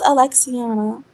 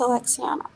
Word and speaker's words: Alexiana: It's pronounced Alexiana. Alexiana, whatever. That's exactly how There's no whatever. That is how he said it. It's pronounced Alexiana. That's exactly Alexi fucking. The way you say it is Alexiana.